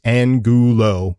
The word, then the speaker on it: Angulo: And underneath Angulo, he said pronounced on, AWN, Goo, Goo, low, WLO, and he said pronounced Angulo for SP.